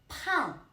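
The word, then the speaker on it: 叛: Pan. Po an pan means rebel. Pan is different ban. We can say that pronunciation was changed from bo sound to the po sound.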